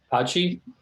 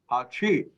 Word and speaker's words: Hachi: How do you say that? Hachi? Correct. Hachi.